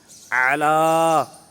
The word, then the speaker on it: اعلیٰ: گے اعلیٰ اعلیٰ اعلیٰ، عین کا صحیح تلفظ کرنا ہے، یعنی صحیح ادائیگی ہو۔ اکثر یہاں پر حمزہ پڑھ جاتے الا پڑھ جاتے الا، تو عین کی جگہ پر حمزہ پڑھا جاتا ہے، تو حمزہ ایسے ہوتا